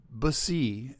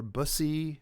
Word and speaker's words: Busse: After years in the firearms industry, Ryan Busse, B-U-S-S-E, I think he pronounces it Bus or Bussy, or I think.